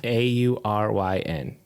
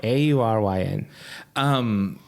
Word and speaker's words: Auryn: Auryn. It does help to spell it because it's not. it's not intuitive. It'd be like Orin. No, yeah. Auryn.